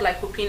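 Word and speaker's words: lycopene: is called like cine it is spelled l y c o p e n e it's called lopine and fruits that are rich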